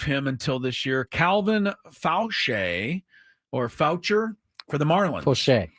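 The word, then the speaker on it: Faucher: Say it right. So Fauché. Okay, Fauché. He was the guy. It's Fauché.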